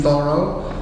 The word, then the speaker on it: Thoreau: Okay, I mentioned Henry David Thoreau, and that's how he pronounced his surname, Thoreau, although he was born and named David Henry Thoreau.